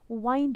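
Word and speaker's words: wind: वो भी डिफरेंट है इसे विंड बोलते हैं इसे वाइंड बोलते हैं वाइंड का मतलब to coil to वाइंड अप so homographs क्या होते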